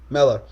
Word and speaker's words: Mellor: Mellor, is that how you pronounce it? Mello. Mellor.